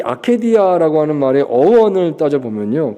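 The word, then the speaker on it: acedia: 아케디아 또는 이제 영어로 아시디아라고 읽기도 하는데요. 아마 원어가 아케디아인 것 같습니다.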